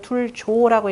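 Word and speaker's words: 措: 초육 자용백문이 무구라 하니 자왈 구저 저지라도, 구조 둘조자입니다. 이게 섞일 착자인데요. 두다라는 뜻으로서는 여기서 둘조라고 읽으셔야 됩니다.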